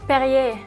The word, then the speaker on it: Perrier: เพอร์ริเยร์ จาก 67 บาท จู่ ๆ ก็ พุ่ง ขึ้น เป็น 100 บาท พอ พูด ว่า "Perrier" คุณ ดื่ม มัน บ่อย ไหม ?